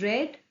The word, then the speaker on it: read: Alice had with had we will add not and the third form of the read is red. See the spellings spellings are same but but the pronunciation is red.